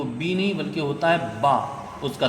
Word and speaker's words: ب: اور ایسے اس کے بعد جب آتی ہے بی تو وہ بی نہیں بلکہ ہوتا ہے با اس کا تلفظ۔ ایسے ہی عربی میں الف کا تلفظ